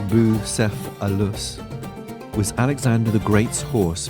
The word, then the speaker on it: Bucephalus: by gary w bowersock busepolis pronounced bou seth alus was alexander the great's